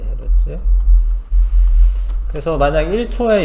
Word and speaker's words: 헤르츠: 근데 그거를 헤르츠라고도 하는 거야. 헤르츠 1초에 몇 번. 그게 헤르츠 단위라고 합니다.이 헤르츠라고 읽으시면 돼. 헤르츠.